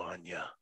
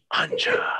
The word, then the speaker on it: Anja: we do for you anya you could say my name right anja it's like ganja okay look it's anya yeah